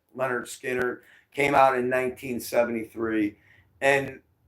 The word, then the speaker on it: Lynyrd Skynyrd: record came out which was named produ or pronounced Leonard Skinner came out in 1973 and I'm sure some